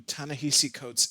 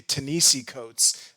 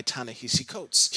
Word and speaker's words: Ta-Nehisi Coates: short amount of time i didn't even know how to pronounce his name uh so if in this video you hear me say tanisi coats that's just force a habit but i'm pretty sure i have it down to summarize the i